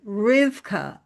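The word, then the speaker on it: Rivkah: Her name, by the way, Rebecca, and it could some some versions spell it reb ca. Rebecca. Uh, and it comes from a Hebrew word rivka.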